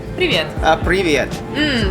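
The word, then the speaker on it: Привет: Được rồi, được rồi phát âm như thế này nhé "pree-vee-et" Từ này phát âm tốt đấy.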